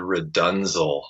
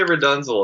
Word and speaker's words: RDNZL: And he had me learn for the first one this Frank Zappa tune called Redunzel.